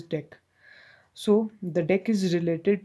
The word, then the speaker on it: deque: also call it as dec it is pronounced as deck so the deck is